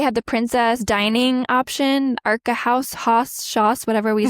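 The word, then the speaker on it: Akershus: And they have that like, and they have the princess dining option, Arca House, Hoss, whatever we said it's pronounced. Oscar Hoos.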